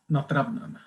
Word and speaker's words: Nattravnen: Nattravnen.